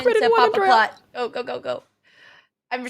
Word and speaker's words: Papaplatte: But the fact that Papaplatte, chat is telling me that you pronounced the E at the end.